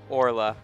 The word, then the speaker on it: Orla: That's Orla, actually.